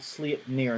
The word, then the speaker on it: Sleipnir: first one is called sleep near and by the way that is how they pronounce it on their site so we're running with it uh sleep near looks like this it